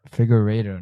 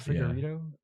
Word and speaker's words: Figueiredo: It's like Figueiredo, though. Figueiredo, not Figueiredo. Yeah, but that fight was really good.